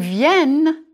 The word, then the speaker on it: viennent: Il vient. Singulier. It's nasal. Ils viennent. Pluriel. Here, you hear the ne.